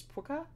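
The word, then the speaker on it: Pwca: languages but um so how the Welsh one is spelled is p WCA which is puka um and then his Irish Incarnation which is it's like puka but pH so with being English it kind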